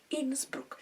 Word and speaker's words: Innsbruck: Innsbruck. I'm pronouncing that correctly. I am sure of that.